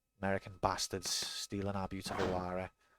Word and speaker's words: Lara: American bastards stealing our beautiful Lara. Can't even pronounce her name properly. It's Tomb Raider starring Laura Croft. It's Lara.